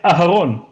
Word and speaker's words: Aharon: But one is starts off with the aleph, right? So it's Aharon, and the of the ark is Ha-Aron.